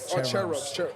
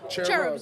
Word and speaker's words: Cherubs: I'm sorry cherubs cherub cherubs cherubs CH just a hard CH all right bet say